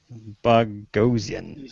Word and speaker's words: Boghossian: Who I don't think I've met him, but he says it's pronounced like explosion. Boghossian.